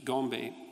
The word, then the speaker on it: Gombe: But then, of course, Goodall showed in the 1970s that the chimps at Gombe, I think that's, I'm pronouncing that correctly, yep, would go on raiding parties, right?